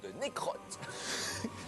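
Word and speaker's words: Necroth: pas beau, Necros, attention, on l'appelle aussi Lord Necrotte. Oui, non mais ça s'écrit N-E-C-R-O-T-H, donc Lord Necrotte a piqué tous les Skittles Ouais.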